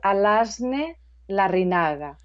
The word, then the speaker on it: Alazne Larrinaga: at Body Learning, and today my guest is Alasni Larinanga, and I'm going to ask Alasni to pronounce her name here first, if you wouldn't mind. No, you did very well. Alasne Larrinaga.